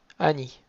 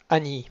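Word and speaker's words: אני: un Yud pour Ni, Ani. Donc on ne traîne pas trop sur le Aleph, et le Ni un peu long, Ani.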